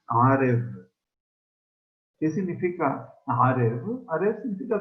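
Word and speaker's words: ערב: Como se escribe la palabra noche, Arev, nada más aquí la palabra se pronuncia Arev.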